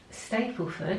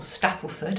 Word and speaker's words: Stapleford: and we're going to Stapleford, or Stapleford as I believe it's pronounced. I've been pronouncing it wrong for a few years.